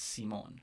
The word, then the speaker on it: Simon: i was young it was always simon because my dad is simone right and that's a spanish way to pronounce my name um i think as i get older i'm really liking that spanish um uh version of it as well so i